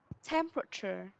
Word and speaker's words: temperature: cái cấu tạo từ, nó có vẻ là 4 âm tiết nhưng thực chất nó lại có 3 âm tiết thôi ạ. Nó sẽ có 3 âm là temperature và cher.